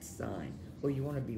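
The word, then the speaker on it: sine: show you don't laugh it's not pronounced thin it's pronounced sign well you want to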